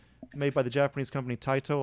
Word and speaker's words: Taito: so 19 in 1988 taito maybe some people pronounce this tato but the japanese would be tight taito released uh superman uh